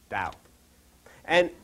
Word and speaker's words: Tao: lessons in Oriental spiritualism if you would call Da as spelled ta AO but pronounced da and what it means actually is